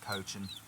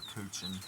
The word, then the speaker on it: Cochin: The hen I got in there is a black cochin or coochin, however you prefer to pronounce it.